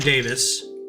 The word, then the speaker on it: Davies: Also spelled Greg Davies, but it's pronounced Davis because he's Welsh.